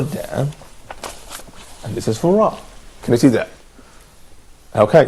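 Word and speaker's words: ر: So we say ra, ra. I think that there is a kind of vibration here happening in our vocabularies.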